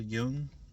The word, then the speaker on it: Jung: And that concept was coined by I think he's a Swiss psychologist, I believe, named Carl Jung, and that's spelled Jung, not Young.